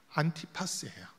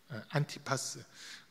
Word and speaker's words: 안티파스: 그런데 이 안디바 조금만 더 설명드리면 헬라어로 발음해 보면 안티파스예요. 안티파스.